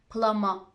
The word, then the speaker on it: plumber: When MB is in the middle of a word, we occasionally don't pronounce it, like plumber, climber.